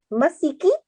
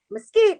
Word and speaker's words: mesquite: shakes the sheep pod masiki better but easy on the s he says don't tell me i gotta run some kind of pronunciation lesson now say again mesquite escape mesquite let's move